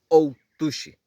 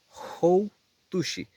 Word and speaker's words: Houtushi: Ojo, no es Outushi, porque Outa es de ir, de que alguien murió. Outushi, él murió, él falleció, de que alguien haya fallecido. Outushi taya es como decir yo estoy muerto. Entonces no se dice Outushi, se dice Houtushi.